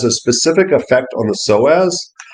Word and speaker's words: psoas: And I think it has a specific effect on the psoas. And psoas is spelt funny. P-S-O-A-S.